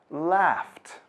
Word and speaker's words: laughed: While talk and laugh end with k and f, so the ed is pronounced t. Talked. Laughed.